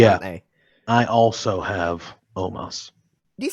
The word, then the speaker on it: Omos: Because they spell it O-M-O-S. So it's so Omos. I look at that and I say Omos. Omos. But they say Omos like it should be an A.